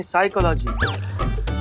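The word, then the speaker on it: psychology: पिसाई का लागी तो साइकोलॉजी नहीं साइकोलॉजी पी साइलेंट होता है तुम हो जा साइलेंट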